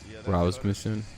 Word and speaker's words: Rasmussen: Rasmussen.